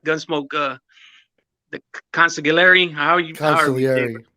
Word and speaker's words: consigliere: Consigliere. Right. I always want to say it like Spanish. I always say consigliere, but I'm pronouncing it wrong.